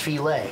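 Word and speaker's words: filé: This is actually the Native American contribution to gumbo is gumbo filet, F-I-L-E, but it's pronounced filet.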